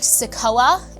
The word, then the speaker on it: CICOA: of falls, you can contact SICOA. It's spelled CICOA, SICOA, or Easter Seals Crossroads, as well as Hand Incorporated or USDA Rural Development.